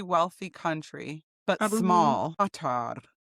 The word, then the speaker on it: Qatar: Qatar. Qatar. That's not how you say it. I watched video after video after video to try to learn how to say it right, and I still can't say it right.